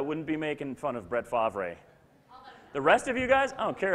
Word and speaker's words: Brett Favre: Brett Favre, if you, just in case you don't know how to pronounce it. Brett Favre.